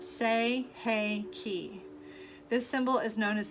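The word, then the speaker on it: Sei He Ki: It is pronounced Sei-Hei-Ki.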